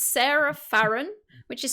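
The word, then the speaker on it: Serah: i reveal for you guys at home it's sarah farren which is spelled s-e-r-a-h but i don't think that really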